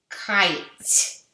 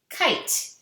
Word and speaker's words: kite: Kite. Kite. Remember, we're not saying the E sound at the end.